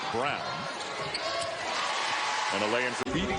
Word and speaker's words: Braun: Brown back into the game, spelled like Braun, but pronounced like Brown.